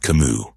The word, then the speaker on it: Camus: Albert Camus When you say his name, you almost feel the last S disappear into silence.